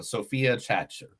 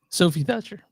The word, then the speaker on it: Sophie Thatcher: is the great um Sophia chater Sophie Thatcher that's what I said Sophie Thatcher why did I say it wrong if what if I'm